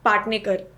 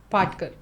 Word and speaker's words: Patkar: I think I can get the last name wrong. It's Medha Patnekar. Patkar.